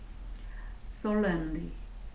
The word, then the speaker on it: solemn: Solemnly, 부사로서 장엄하게, 진지하게 뜻입니다. Solemn, solemn, solemnly, solemnly, solemnly. solemnly 그리고 살렘 여기 발음 기호를 잘 보면은 살렘 이렇게 됩니다.